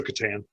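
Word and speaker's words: C'tan: of the void dragon it's like the board game that's how they pronounce it um okay so katan yeah okay um so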